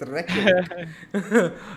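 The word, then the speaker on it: Reykjavík: sat on stream tomorrow, and with my chat, I learned the pronunciation. It's Reykjavik.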